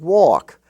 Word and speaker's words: walk: were spelled h-a-f-f and in the LK family you have talk and walk where the a is pronounced like the a in all talk and walk even though it's in the milk and silk family it's talk and walk